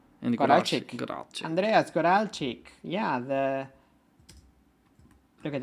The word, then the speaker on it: Goralczyk: Goralczyk.